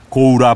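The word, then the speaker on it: 洪: 홍의 일본 발음인 고우라 불리는 사람들이다.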